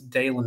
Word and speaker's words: Daylin: right first of all he told me it's daylon not Dylan which I butchered that yesterday so my apologies um it's spelled like Dylan which you you would think